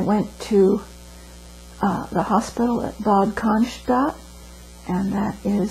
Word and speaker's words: Bad Cannstatt: And I went to the hospital at Bad Cannstatt. And that is spelled B-A-D-C-A-N-S-T-A-T-T.